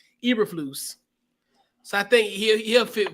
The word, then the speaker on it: Eberflus: a part of that young Bears defense, Matt Uberfleece. I think I said his name right. I think it took me like 14, 15 months to kind of pronounce his name correctly. Eberflus.